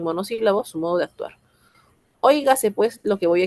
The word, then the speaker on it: óigase: Óigase pues lo que voy a exponer. Óigase. ¿Cuántas sílabas tiene óigase? Hoy, ga, se.